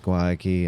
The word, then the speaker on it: Guayaki: Guayaki and Yerba mate.